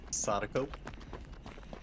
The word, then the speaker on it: Sadako: How do you pronounce? Sadako.